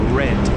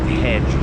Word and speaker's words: red: Oh, red. Red like Johnny Walker. Red, not hedge.